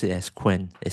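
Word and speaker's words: Qwen: Quen, okay, or Chenun if you if you are familiar with Chinese, but I prefer to pronounce it as Quen.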